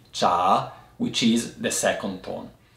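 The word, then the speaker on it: 茶: there is a half of the world that pronounce the word T more or less like the Chinese do in Mandarin cha for example in Japan there are other or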